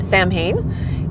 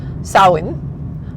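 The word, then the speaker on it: Samhain: we are used to, it is not pronounced Sam Hayne. It is pronounced sawin which um most people will say sa s o w like yay I win.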